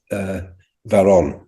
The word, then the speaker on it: Varon: Yeah, it's pronounced, the B is a V in Greek, so it's actually pronounced Varon.